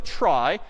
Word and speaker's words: trie: So a try, sort of a weird name in pronunciation, short for retrieval, pronounced try.